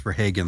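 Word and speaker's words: Verhaagen: it is Americanized so the name in America is pronounced for Hagen like a little hay stack yeah but the Dutch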